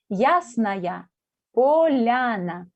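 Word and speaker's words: Ясная Поляна: se llama el nombre es ruso se llama yásnaia poliana se escribe con y sn y asner después polana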